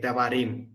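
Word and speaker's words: דברים: So now in Hebrew, usually the stress is on the last syllable. So this is the last syllable. Okay, Devarim.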